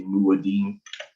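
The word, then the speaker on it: מועדים: I would say Muadim.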